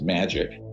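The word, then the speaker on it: MAJIC: the majority Intelligence Committee Maj I see it's pronounced magic ironically are not ironically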